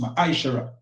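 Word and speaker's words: מעשר: Malachi chapter 3 8-10 means tent in the Hebrew and it's pronounced misher 10% of every penny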